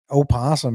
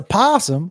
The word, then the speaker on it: opossum: Opossum isn't correct, is it? It was an opossum. It's a possum. It's spelled opossum.